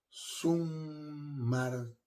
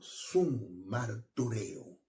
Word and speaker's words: summartureo: Ese término testimonio que Pablo utilizó para dejarlo plasmado en el texto sagrado, del griego, es summartureo. Se escribe así: summartureo.